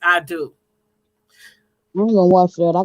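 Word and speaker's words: Adú: spelled a d u i do and it's called i do because the little african boy's name is i do i'm gonna watch that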